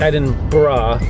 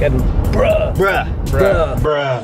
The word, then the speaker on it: Edinburgh: So, I'm pretty sure it's pronounced Edinburgh. I that's what I said in the vlog. So, I hope that's right. I think Edinburgh. I think it is Edinburgh. It's like Edbr.